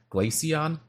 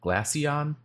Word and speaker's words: Glaceon: This is called the Glacion. Glacion. Um, I'll spell it out. You'll see it in the title as well of the video. It's G L A C E O N. The Glassion Glass mouse pad.